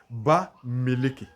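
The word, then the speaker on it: Bamiléké: Dans la prononciation, on va dire Ba Meleke.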